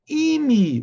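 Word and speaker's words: עִמִּי: And also it means be comforted, my people, but also imi, with a chirik, with an e.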